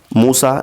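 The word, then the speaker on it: موسیٰ: तलफुस यानी कि प्रोनाउंसिएशन पूछा गया है तो यहां पर मूसा का जो है तो तलफुज इस तरीके से रह रहेगा लेकिन उसकी तहरीरी शक्ल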